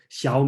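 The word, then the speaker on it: 小: Okay, xiao and xiao, okay, that's a different tone. Okay, so xiao means small.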